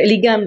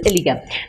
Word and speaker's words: Ellingham: So N is silent in this Ellingham.